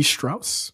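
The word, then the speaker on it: Strouse: rude no they were written by James C Strauss yeah that's white Strauss as in Levi Strauss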